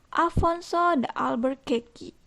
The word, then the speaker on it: Afonso de Albuquerque: Dipimpin oleh Afonso de Albuquerque. Ya, Afonso de Albuquerque. Jadi itu pelafalan dalam bahasa Portugis.